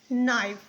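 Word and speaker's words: knife: एन आई एफ ई नाइफ नाइफ का मतलब होता है चाकू के एन ओ टी नॉट देखिए सब में के साइलेंट है ठीक है इसको आप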